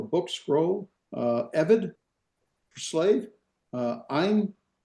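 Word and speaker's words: אֵין: Ein, remember there's our diphthong. Ein, and then the I doesn't have a pronunciation, so Ein meaning I, so I'm I.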